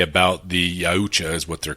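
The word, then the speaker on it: Yautja: of the big things they say about the Yucha is what they're called, right? Is that's how you pronounce it. Yucha. That's how they say it in the show. So, who thought it was Utah? No, it's Yaucha.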